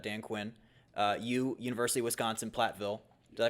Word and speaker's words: Platteville: University of Wisconsin, Platteville. Did I pronounce that correctly?